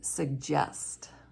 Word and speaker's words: suggest: soft G instead these are words like margarine mortgage ER and jail in the middle of a word we would have veggies and suggest here's a sentence with